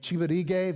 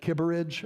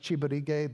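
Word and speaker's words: Kibirige: We run it through a man named Chibarig. That's how you It looks like Kibberidge up there. It's pronounced Chibarig. The Ki is chi.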